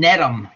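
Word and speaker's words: Gnetum: And then netum, the G is silent.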